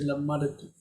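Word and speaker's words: למדתי: It's supposed to be lamadti. lamadti. But to separate the D and the T, we say lamadati.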